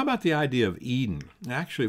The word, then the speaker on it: Eden: about the idea of Eden actually if we pronounce that properly be closer I think to Aiden and as we break